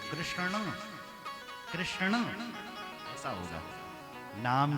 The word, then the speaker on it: कृष्ण: में यम गणना नाम नासिका इन शब्दों का उच्चारण नासिका से होना चाहिए तो कृष्ण कृष्ण ऐसा होगा नाम भी टेढ़ा कृष्ण भगवान रहते